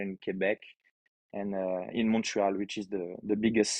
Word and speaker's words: Montreal: not good i mean in french it will be monreal but in english we all say montreal all right and this